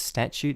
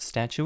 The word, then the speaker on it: statute: the statute of limitations I said it right it's statute not statue it's in some jurisdictions